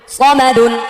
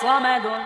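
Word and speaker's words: صَمَدٌ: সামাদুন, সামাদুন বলা যাবে না, সামাদুন বলে এটা সিন হয়ে যাবে, এটা সদ স স। সিনের উচ্চারণ সা, আকার হবে একটা, আকারটা মুছে ফেললে স, আকার দিলে সা। সদ হচ্ছে আকার ছাড়া স স, সিন হচ্ছে আকার দিয়ে সা সা।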